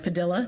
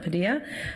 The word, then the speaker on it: Padilla: city selected strategic communications firm padilha which is pronounced padilha not padilla and their research arm SMS research to conduct